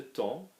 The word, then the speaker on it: temps: Remember, we say T-E-M, and you're not going to hear the P, you're not going to hear the S, because there is no E after it.